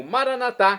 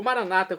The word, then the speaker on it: maranatá: E agora eu clamo maranatá, como dizemos nós católicos, ou maranata, como dizem nossos irmãos separados das comunidades evangélicas ou protestantes.